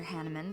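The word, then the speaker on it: Hanneman: anything thank you Professor hanaman but I'm fine man I keep on saying his name wrong it's hanaman you don't appear fine maybe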